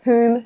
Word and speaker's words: whom: WH or H, most WH words are pronounced as W. What, where, when, while, whale. The exceptions are who, whom, whose, and whole, where the W is completely